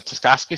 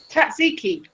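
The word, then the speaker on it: tzatziki: I have a lamb guru with the uh I can never pronounce the name. The taski sauce or I think it's called here. I have some right there. Hm. Oh no. Tatsiki.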